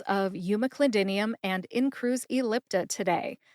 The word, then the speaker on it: umeclidinium: counseling section let's review we talked about the pronunciations of Yuma clidinium and in Cru ellipta today I broke both